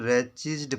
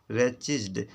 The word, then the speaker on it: wretched: इसको wretched पढ़ेंगे. wretched. W silent है इसमें, T साइलेंट है.